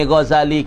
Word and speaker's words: Ghazali: Baca molek baca Ghazal bukan tu, bukan sedik zain. Tanam molek. Ghazali biduni tasydid fi za. Bacanya Ghazaliyu, yang dibahasa kepada kampung tempat yang bernama Ghazal.